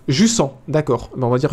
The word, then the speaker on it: Jussant: Jussant est un terme français et se prononce français. Jussant, d'accord.